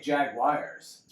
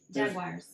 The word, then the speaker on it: Jaguars: See, now you say Jaguars. Jaguars. Yeah, there's no W in Jaguars. Jaguar? You want me to say it like the car? How do you spell Jaguars? Jaguars. Now say it. Jaguars. All right. Well, that's how I say it. How do you say it? Jaguars. Like how it's That's what you just said with a W.